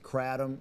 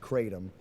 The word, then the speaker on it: kratom: Anybody out there who hasn't heard of this, I've heard it pronounced two different ways: kratom and kratom, K-R-A-T-O-M.